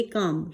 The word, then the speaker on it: calm: हिम to stay काम, CALM, इसे पढ़ेंगे काम, CAM काम पढ़ेंगे, लेकिन स्पेलिंग होती है CALM, L यहाँ पर साइलेंट है।